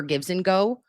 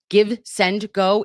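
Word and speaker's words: GiveSendGo: It's not gives and go because that's what I was Googling to try to find it again. It's give, send, go. Been saying it wrong for, I don't know, at least 2 years.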